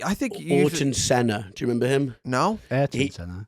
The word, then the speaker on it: Ayrton Senna: Yeah, I'm like I think you Ayrton Senna.